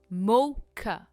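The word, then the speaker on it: mocha: इसे कहते हैं मोखा। मोखा का नहीं कहते हम। इट्स ख मोखा।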